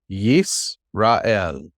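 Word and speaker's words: ישראל: Yis. Yis. Ra. Israel. El. Yisrael. Yisrael. Which sounds like what? Israel.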